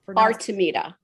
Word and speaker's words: Artemida: And And the name of your company, pronounce that for me real quick, too, so we know how. Artameita. Artameita.